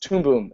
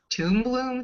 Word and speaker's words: Toon Boom: I just love 2D animation, and I also use Toon Boom animation software, who are also official supporters of the Tales from Nanumea series.